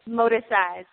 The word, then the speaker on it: Morticise: I'm like, it's Morticise. It's really, it's the hybrid Morticise.